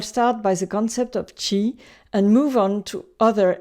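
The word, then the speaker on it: 氣: It is pronounced Qi in Chinese and Qi in Japanese.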